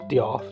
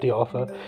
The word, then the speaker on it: Diarth: I realised I was probably saying that name completely wrong in every episode apart from now, as it is just Diarth, not Diartha.